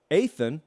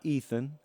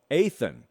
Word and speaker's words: Athan: Athan, not Ethan, Athan Kaliakmanis is my best guess on the pronunciation of the last name right now.